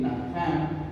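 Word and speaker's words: נחם: Aquí está la palabra hebrea, así se pronuncia, ¿sí? Naham.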